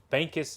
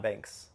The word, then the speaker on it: Bankus: um my buddy Chris bankis uh bankus is the correct terminology for those that don't know yeah not Banks but I call him